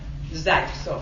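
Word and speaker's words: Zaitsev: And I didn't check this morning to see how they spell it, because it is pronounced Zaytsev. That I am sure.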